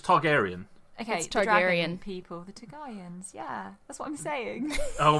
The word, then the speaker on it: Targaryen: are we oh gosh are we all pronouncing this because it's Targaryen okay Aryan people yeah